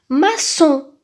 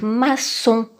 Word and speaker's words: maçon: qu'il n'est pas accompagné d'une voyelle il se prononce like maçon maçon nous avons mal et puis il nous